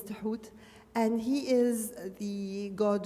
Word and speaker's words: Thoth: And the ibis is then Tuhut, spelled in English Thoth, which is unpronounceable, but his name is Tuhut.